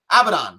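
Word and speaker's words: Abadon: how do you say your name or whatever abaddon yeah okay she's five and one don't care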